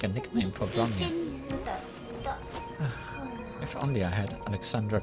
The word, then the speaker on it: Bronya: Ronnie? Something doesn't sound right. I'm not pronouncing her name like the way Alexandra pronounced it. Then, is it Bronya? Or Bronya? Yes, Bronya. That sounds more like it.